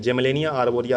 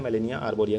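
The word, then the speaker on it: Gmelina arborea: जेमिलेनिया आरबोरिया आप पढ़ सकते हैं। लेकिन इसमें जी साइलेंट है। मेलिनिया आरबोरिया के नाम से जाना जाता है।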